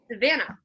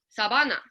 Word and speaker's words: Savannah: for a year, and none of my friends could say my name the way it's pronounced with a V. They could not say Savannah. So what they would do is they replaced the V with the B.